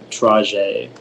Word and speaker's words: trajet: Are there any alternate pronunciations? It's just the one, trajet.